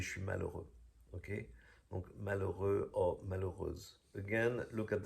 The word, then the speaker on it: malheureux: Again, we don't pronounce the H in French, nor the X at the end.